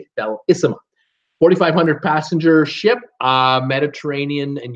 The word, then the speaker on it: Bellissima: Bellissima, the Bellissima, is how you say it, Bellissima.